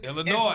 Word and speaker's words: Illinois: And if you don't know what the ill is, Illinois. It's Illinois. It ain't Illinois. It's Illinois. Everybody the have S is silent.